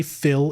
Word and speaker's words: Phi: I keep wanting to say Phil. It's not Phil, it's Phi.